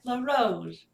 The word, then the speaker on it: La Rose: the Commodore Castles, Scarlet La Rose. And that's actually spelled Scarlet La Rose. La Rose, one word, but it's like pronounced La Ro. La Rose is spelled, La Ro is pronunciation. I used to train to